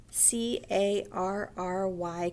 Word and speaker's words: carry: a l animal carry c a r r y carry y on the n makes an e sound in this word carrey and we're back at